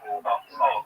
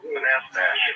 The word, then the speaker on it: Manastash: How do you pronounce the name of your town, Manastash? Manastash. Manastash.